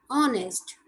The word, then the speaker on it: honest: Some words where H is silent, they begin with a vowel sound and take an before them. For example, an hour, an honest.